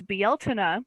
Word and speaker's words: Beltane: After Ostara, it's Beeltane, which is spelled Beltane, tradition.